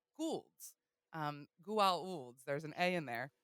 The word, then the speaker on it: Goa'uld: Goa'uld. There's an A in there. Emma's last name is spelt with Ould, so it's missing the A, but it's very, very close to this Goulds, right?